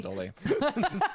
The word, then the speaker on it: Haldori: Haldoli. Yes. And thus, Almost I've done one so session. well today to pronounce her name correctly.